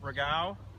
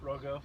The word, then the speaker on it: Rogau: So I have them both here, our two leads for our junior golf program, Ryan Rip Rogau. Did I say it right, Ryan? Rogo. Rogo, okay.